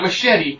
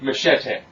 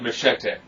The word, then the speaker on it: Machete: Not Machete, Machete. They say his name about a dozen times, so it's always Machete. Essentially, he is he's a